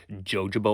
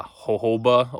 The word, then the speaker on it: jojoba: oil so the carrier oil i call it jojoba oil but apparently it's pronounced uh jojoba oil js are js oh i better be